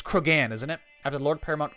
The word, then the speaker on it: Cregan: Name your sons I'm going to mispronounce this. Cregan. It's Cregan, isn't it?